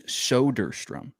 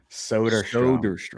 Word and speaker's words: Soderstrom: Okay, his name is Soderstrom. Soderstrom. Dude, I'm always going to pronounce that wrong, knowing me.